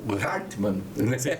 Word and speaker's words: Hartmann: Esse Hartmann é alemão, É alemão. A pronúncia é Hartmann, é isso?